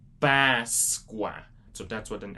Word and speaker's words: Páscoa: Yeah, so this is how you say Easter. Páscoa. Páscoa. So again, this is more stronger and open sound. You're not gonna say it like a regular A. And even though you might think it's a regular A, it's still different because it's still like a longer one.